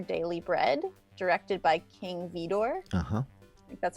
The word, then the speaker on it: Vidor: 1934 called our daily bread directed by King Vidor haha that's how you say his name so